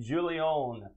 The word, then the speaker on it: Guillon: I'm going to try to pronounce their names. Didier and Oliver Guillon. That's G-U-I-L-L-I-O-N. Guillon.